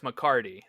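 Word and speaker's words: McCarty: healthy I will say you did say the last name wrong it is Dax mccardy you had you you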